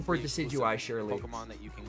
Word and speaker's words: Decidueye: look at the uh that is the Canon pronunciation for decidueye Shirley Pokemon that you can get from the